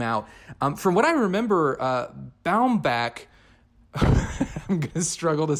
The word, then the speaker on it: Baumbach: it reminds me of I heard him pronounce his name is bound back and it blew my mind because I've been saying bomb BOC which just seems so much easier to say maybe I'm just an